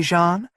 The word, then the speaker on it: Jean: "Do you like these panties with the silver bustier, Jean?" She pronounced my name correctly, in the French manner, like John, but with the soft J.